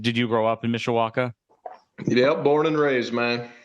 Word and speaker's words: Mishawaka: And you're in Mishawaka. Is that the right town? Mishawaka, yep. Okay. And did you grow up in Mishawaka?